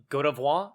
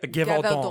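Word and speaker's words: Gévaudan: Now we've got the Beast of Godavois. Did I say it right? Gevaudan.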